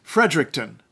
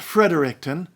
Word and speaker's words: Fredericton: too its capital is Fredericton not Fredericton Fredericton that was named in